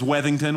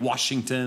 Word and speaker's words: Weddington: is and uh no my last name is weddington which seems easy weddington but i get washington and wellington and liechtenstein that's a